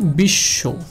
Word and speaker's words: বিশ্ব: সেক্ষেত্রে এই তালব্য স্বটা দুইবার উচ্চারিত হবে, অর্থাৎ বিশ্ব, বিশ্ব, দুইবার উচ্চারণ হলে কিন্তু দেখেন বিশ্ব। এখানে কারণটা হচ্ছে এই তালব্য স্বটার সাথে কি যুক্ত রয়েছে?